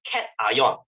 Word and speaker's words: cation: part we call it cat ion this is not pronounced as cationar guys it's pronounced as cat ion and this negative part